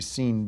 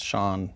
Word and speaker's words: Sean: b not a p well you mispronounced Sean so I think it's supposed to be seen Bean well no it's Shawn let me see it well if it was Shawn it' be S H A WN yeah that's Shawn Bean